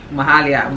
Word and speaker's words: Mahalia: So basically, Mahalia rhymes with Wahala for a reason.